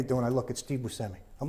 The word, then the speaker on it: Buscemi: my I love blackout Steve Buscemi that's how you pronounce it but semi not Bechet me it's friend of mine